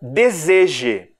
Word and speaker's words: deseje: palavrinhas aqui a palavra deseje deseje Olha a posição do S ele é está na segunda sílaba mas ele não tem um som de s né deseje mas ele é